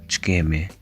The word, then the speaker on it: Ç'kemi: Ç'kemi? Notice that this letter is pronounced as ch.